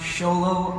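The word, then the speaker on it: Xolo: actually a great question my name is spelled you can see right here it's xol it means the North Star it's not actually yeah so it's pronounced solo money win young for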